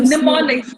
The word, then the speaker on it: mnemonics: ये जो Mnemonics. It is pronounced as mnemonics.